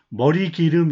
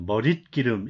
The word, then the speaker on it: 머릿기름: 머리기름 이렇게 읽지 않아요. 머릿기름 이렇게 읽죠.